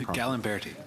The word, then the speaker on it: Gallimberti: how do I pronounce your last name? Gallimberti.